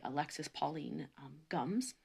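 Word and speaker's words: Alexis Pauline Gumbs: been reading this new book called undrowned by alexis pauline gums and i looked up that is how you pronounce her name properly so um and we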